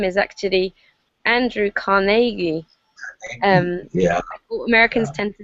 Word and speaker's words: Carnegie: recently and i discovered that the way to pronounce his name is actually andrew carnegie um yeah americans tend to say carnegie and that's what i used to say but in scotland they say carnegie or like like um exactly um so uh